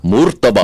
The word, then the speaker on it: murtabak: And then I got made fun of So they said the correct way to pronounce it is murtabak. Murtabak.